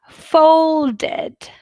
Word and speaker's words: folded: too kissed because voiceless folded folded folded what do you hear folded or like british would say felded felded it's id full did it because folded ends in d sound that's why we have